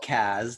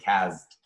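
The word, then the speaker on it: Cazt: It was called Cazd, spelled with a Z, C-A-Z-T, and it was well said, by the way.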